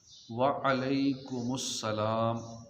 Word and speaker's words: وعلیکم السلام: وعلیکم السلام. وعلیکم السلام. اس میں کیا کہتے ہیں؟ وعلیکم السلام.